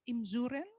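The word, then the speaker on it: Imzouren: about your background you were born in uh imsuren yes do i pronounce it right it's a small village in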